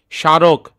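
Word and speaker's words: স্মারক: সারক। এখানের মধ্যে হচ্ছে আমরাশা এর নিচে সমরক বলি না। এখানে হচ্ছে সারক।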